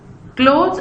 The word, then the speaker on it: clothes: Clothes are what you wear, ठीक है। In other words, clothes is a noun that refers to garments. When you pronounce with a long O, clothes, इसको हम cloth